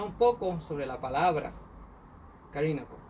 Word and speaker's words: Callinago: Si usted se fijó, aquí si leemos español, dice Callinago, pero yo cambié esa pronunciación por lo que es correcto. En francés se supone que esto se lee hasta doble L como una L.